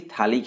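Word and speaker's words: phthalic: molecule it is actually talic anid by the way it name is pH th h a l i then anhydrite now this pH is silent now this is talic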